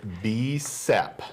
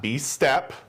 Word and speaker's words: BSEP: It is BSEP. Yes. Not B-STEP, as it has been mispronounced before.